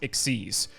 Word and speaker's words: XYZ: is known as an exes monster it's spelled XYZ but it's pronounced exes don't ask it's the